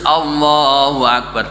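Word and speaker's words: الله أكبر: Tidak boleh memanjangkan lafaz alifnya Allah. Allahu akbar. Tidak boleh dipanjangkan.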